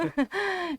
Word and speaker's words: Vilain: Brasil Vilain, mas daí eu vou falar para os descendentes que é vilã, né, Vilã. vilã. É, esse pronúncio é vilã, e da família Van der Hurt, né?